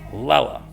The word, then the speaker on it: Lele: Okay, page 13, she says it's pronounced umbrella, Lela. You can stand under my umbrella, Ella, Lela, Lela. Lele.